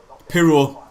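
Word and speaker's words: Piroe: Pirro. That's it. Pirro.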